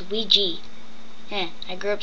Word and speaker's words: Ouija: Yes, that's how it is spelled, but it's actually pronounced Wee-Jee.